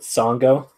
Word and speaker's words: Sango: I believe her name rhymes with Mongo. Is it Sango?